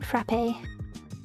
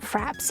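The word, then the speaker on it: frappé: Is that how you say it? Frap-ay? It has an accent on the E so... It's not fraps, is it? 'Cause that sounds weird...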